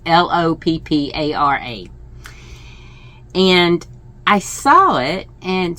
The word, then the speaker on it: Loopara: For some reason, when I first saw it, I thought Lupara. I don't know the pronunciation. I don't know how to pronounce that particular. It's Loppara.